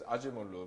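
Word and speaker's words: Acemoğlu: blamed, because Acemoglu, well, my Turkish friends tell me that he should be read as Acemoglu, but that's what other people say, so I'll call him Acemoglu.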